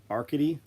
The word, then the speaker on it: Arcady: Pronounced like rickety, a rickety chair. Arcady, like that.